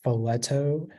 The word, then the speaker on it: folletto: The only pronunciation is filetto.